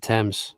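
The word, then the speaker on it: Thames: been e since I've been to London the Tams father Tams yeah that's how you say it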